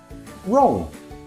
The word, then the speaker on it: wrong: The rule W is silent when it comes before R.